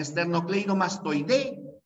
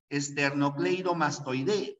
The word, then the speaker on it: esternocleidomastoideo: está en la e externocleidomastoide ahí está la fuerza de voz Es una palabra grave que termina en vocal por eso que esternocleidomastoideo no lleva tilde la palabra no entiendo